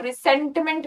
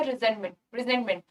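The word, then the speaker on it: resentment: तो वर्ड के अंदर से कुछ लोग इसे रिसेंटमेंट पढ़ेंगे, इसे पढ़ेंगे हम, जेड का साउंड आएगा. रिजेंटमेंट.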